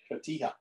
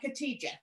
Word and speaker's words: cotija: And I just learned that I pronounced this wrong. After years, I always called it cotija, and it is not. It is not. It is cotija.